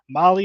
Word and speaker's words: Mahle: And for all of our podcast listeners, Molly is spelled Mahle.